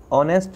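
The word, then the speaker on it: honest: तो एच है लेकिन एच जो है वो साइलेंट रहता है, तो इसकी जो आवाज़ है, इसकी जो ध्वनि है वो अ से शुरू होती है, इसलिए हम ए और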